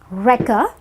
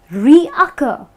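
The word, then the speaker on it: recur: Now, a lot of people are tempted to call this reoccur because yes, it's derived from a reoccurring event, but that doesn't mean you have to pronounce it as reoccur. You have to use the word as wrecker because, as you can notice, there is no O here and there is no extra C here in the spelling, which is why it's pronounced as wrecker, and the pronunciation can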